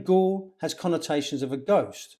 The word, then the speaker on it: Goole: for eva smith's death his name also sounds like the word gaul if you say that